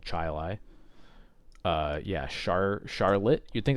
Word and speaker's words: Chili: the the dish but is in fact called Chai Lai uh yeah Charlotte you'd think that's Charlotte no